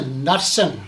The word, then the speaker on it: Knudsen: you say your last name can you say Knutson not nothing that's a cool name and Dennis